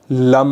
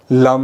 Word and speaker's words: लं: अपनी मानसिक सजगता वहीं पर बनाए रखनी है और इनहेल करना है और बीज मंत्र लम का उच्चारण करना है कुछ इस तरीके से। लम लम कुछ इस तरीके से बीज मंत्र लम का उच्चारण आपको निरंतर करना है।